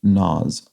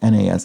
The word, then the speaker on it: Nas: a minor quibble but the rapper is pronounced nas i'm sorry about that nas i think i've i think i've probably pronounced his name a couple of different ways that we're not correct so thank you violet